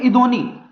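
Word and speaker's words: יִדְּעֹנִי: और इसको बोलते हैं हिब्रू में, जो इसका प्रोनाउंसिएशन है, इसको बोलते हैं इदोनी, YIDDEONI, इदोनी बोलते हैं फैमिलियर स्पिरिट।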